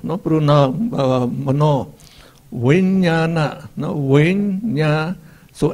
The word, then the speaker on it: mano: And mana, mano, O is pronounced O, mano.